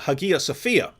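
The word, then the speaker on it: Hagia Sophia: a video on uh Hagia sfia um that's the that that would be the original Greek pronunciation um in Turkish now I think it's a Sophia and so this was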